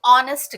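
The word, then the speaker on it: honest: देखिए शी इज एन ऑनेस्ट girl अब यहां पे एच को देखकर आप अ लगाएंगे बट ध्यान रखिए यहां पर जो साउंड है ना वो ओ की है यहां पर एच साइलेंट है तो यहां पर एन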